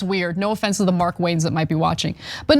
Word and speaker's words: Markwayne: So let's get to some details about what Markwayne Mullin, which is not a fun name to pronounce. I got to like, it's Mark Wayne as one name.